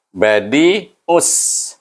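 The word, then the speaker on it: بديع: Dalam tasydid sin itu maknanya ada dua, satu mati, satu baris atas. Jadi kita membacanya us, badi us. Kalimah yang pertama bunyinya badi'us sebab kita nak sambung dengan kalimah kedua.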